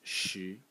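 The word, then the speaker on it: 石: And the semantic element in this character is this left part over here, which is pronounced shi, and it is a stone or sort of like a rock.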